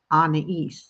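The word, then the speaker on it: Anaïs: you pronounce it, and it's Anais. So like Anna from Frozen and East, like ES, but it's IS, and you put the 2 dots above the I to make it a long E sound.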